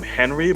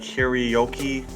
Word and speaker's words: Hiroyuki: A lot of people call him Henry, but it's like Hiroyuki.